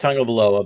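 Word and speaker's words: Tagovailoa: or 12 they're look first of all it's pronounced tango below but but second of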